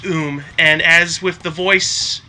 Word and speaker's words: Um: it was called um it's pronounced oom and as with the